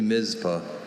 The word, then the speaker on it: Mizpah: Are there any alternate pronunciations? Only Mizpah.